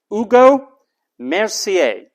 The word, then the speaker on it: Hugo Mercier: way his name is he's from France that's pronounced Ugo Mercier Hugo Mercier it's easy to think